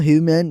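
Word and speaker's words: humane: अगर उर्दू साउंड देखें तो ह्यूमन। ह्यूमन और दूसरा है ह्यूमैन। पहले में ह्यूमन और दूसरे में ह्यूमैन। फर्क एंडिंग साउंड और स्ट्रेस में है जो सुनते ही क्लियर लगता है।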